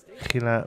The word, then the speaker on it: Gila: It's like a rolled H. Gila monster.